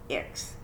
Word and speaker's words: ICCS: school and transferred to iccs short for inter-tribal community charter school and pronounced ix i really thought things